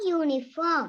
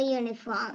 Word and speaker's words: uniform: Y means here it has a sound of YU. So what we have to do? A uniform.